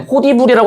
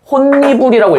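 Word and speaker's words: 홑이불: 그래서 얘는 호디불이라고 하지 않아. 어떻게 읽냐면은 혼니불이라고 읽어요.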